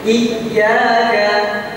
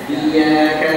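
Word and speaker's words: إِيَّاكَ: contoh dalam surah alftihah iyaka iyaka ada hentakan sehingga salah ketika pengucapannya hanya iaka nabudu wa iyaka Nain wa iaka itu salah ada hentapan sedikit iyaka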